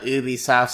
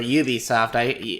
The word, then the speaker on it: Ubisoft: Well, recently I decided to try out Ubisoft's smaller games, or Ubisoft. I hear you can pronounce it either way, so I've chosen Ubisoft because that's the French version, and they're a French company.